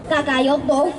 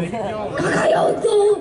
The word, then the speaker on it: Kakaroto: Kakaroto. Kakayoto. ¡Ay, lástima, amigo! ¡Lástima! Una de dos. ¿O sí te la sabes? ¿O no puedes pronunciar Kakaroto? ¿Kakaroto? ¡Kakaroto! ¡Oh, muy bien!